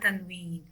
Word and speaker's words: tanween: All these signs are called tanween. Noon or n sound will be pronounced in the end of tanween signs. Whenever we will pronounce tanween sign, n or noon sound is pronounced as well.